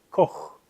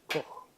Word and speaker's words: Koch: El autor se llama Kurt Koch. Así. En alemán la CH se pronuncia como una J. Kurt Koch.